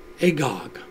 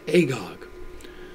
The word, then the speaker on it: Agag: agagite comes from and it is pronounced agog you can see it here just barely but it is pronounced agog there's a prophecy coming